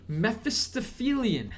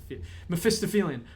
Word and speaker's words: Mephistophelian: Mephistophelian.